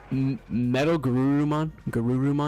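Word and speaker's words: MetalGarurumon: Metal Garurumon.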